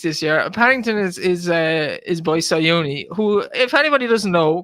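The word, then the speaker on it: Siyouni: Paddington is by Sayuni, who, if anybody doesn't know, because you might be following the jumps horses, he's a French stallion. Say it properly then. His name is Sayuni.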